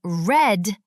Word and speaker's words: read: Red is a tricky word. It looks the same, but in the past we say it like the color red. I read a book.